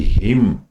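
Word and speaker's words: hymn: इसलिए दी हिम हिम an silent रहता है।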